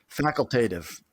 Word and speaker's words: facultative: reinsurance and treaty reinsurance am I pronouncing faculative factually facultative facultative come on yeah all right facultative all right well you're the director facultative major I'm a theology major facultative faculative yeah it's not faculative sorry fac facultative reinsurance